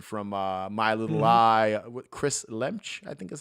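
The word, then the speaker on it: Lemche: And it's the actor from Ginger Snaps and from My Little Lie, Chris Lemch, I think is how you Chris pronounce Lemke, yeah. Lemke.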